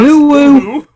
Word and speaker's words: Uhu: That is correctly pronounced. Uhu.